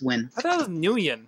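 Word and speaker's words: Nguyen: dong win long win really that's how you pronounce n g looks like nagoyan but it's win like I thought we have a friend that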